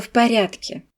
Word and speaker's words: в порядке: Dans cette expression on prononce les de V comme un F et le D comme un T.